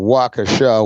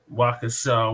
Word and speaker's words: Waukesha: allegedly kills people and how do you say it shibaka uh oh wakasha wisconsin waukesha wisconsin yes and she let me